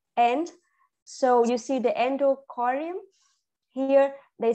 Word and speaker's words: endocardium: So you see the endocardium here. They said they have en, and then you have to pronounce it. You have to say it n, and then do, you say it do, right?